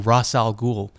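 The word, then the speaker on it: Ra's al Ghul: I always thought he was Razal Ghoul, but he's race in the game. I'm pretty sure Liam Niss pronounced it Ross. My whole life he's been Ross Al Ghoul and now he's race alulan from this distance.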